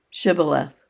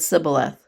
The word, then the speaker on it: Shibboleth: If he said no, then they said to him, Now say Shibboleth. And he said Sibboleth, for he couldn't manage to pronounce it correctly.